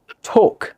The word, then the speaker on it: talk: Talk, অনেকে বলে টক, এটা টক না ভাই, যেটা তেঁতুল খাইতে লাগে আর কি, হ্যাঁ? সো এটা হবে talk, talk.